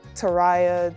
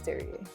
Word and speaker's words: Terri'a: They call me Teria. Tera, Terry, like anything besides Terry.